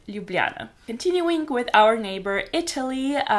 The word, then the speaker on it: Ljubljana: pronounce it Slovenia and our capital city is Ljubljana it is probably one of the most complicated capital cities to say according to tourists and foreigners who live in Slovenia but yeah we pronounce it Ljubljana continuing with our neighbor